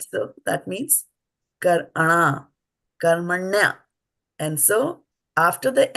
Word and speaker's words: कर्मण्य: So it is not karmana, right? It is not karmaṇe either. Similarly, this is not brahmanasya. It is brahmanasya. We have to be mindful of the vowels, how we pronounce it. So then, karmaṇya. Everybody say karmaṇya. Karmaṇya. Karmaṇya. Not karman, karmaṇya. Karmaṇya.